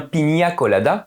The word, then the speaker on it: piña colada: Eleanor prononce très bien on dit bien pinia colada à cause du t-il des sur le N qui fait prononcer à nos amis espagnols nus il n'y a qui veut dire ananas et colada s'est filtré Piña Colada ananas filtré oh magnifique Tintin vous